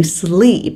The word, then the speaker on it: sleep: với Thủy nha Deep và tương tự chữ sleep cũng như vậy nó sẽ là âm y dài và Thủy cũng nói